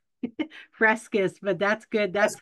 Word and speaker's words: Fresquez: Frescus, but that's good. That's how I used to Fresquez.